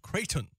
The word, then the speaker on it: Creighton: Bonaventure and Creighton is pronounced Creighton so thank you thank you very much coach